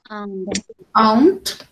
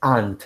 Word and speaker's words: aunt: Aunt. La pronunciación correcta es aunt, sin la U. Aunt.